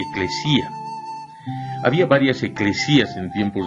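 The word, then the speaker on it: ἐκκλησία: En este caso, la palabra iglesia es una traducción de una palabra griega pronunciada eclesía.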